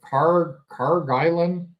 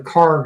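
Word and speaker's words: Kharg: That's, I think they pronounce it Karg Island.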